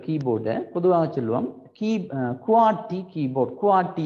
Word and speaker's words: QWERTY: குவாட்டி என்று சொல்லி நாங்கள் அதை உச்சரிக்கிறோம் ஒரு சொல் மாதிரி. உண்மையாக அது ஒரு சொல் அல்ல, முதல் ஆறு ஆங்கில எழுத்துக்களும் தான் அப்படி இருக்கு. ஆனால் நாங்கள் அந்த அந்த இந்த முதல் ஆறு ஆங்கில எழுத்துக்களையும் வச்சுக்கொண்டு ஒரு சொல் மாதிரி உச்சரிப்போம், குவாட்டி கீபோர்ட்.